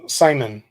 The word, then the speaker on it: salmon: can't remember what I was GNA think uh samon samon sounds like Sam Hayne Noel salmon salmon